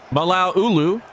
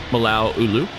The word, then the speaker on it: Malao Ulu: Malao Ulu. It is just pronounced that way. I've looked that up as well. You just little throw a little bit of a pause in there. Malao Ulu.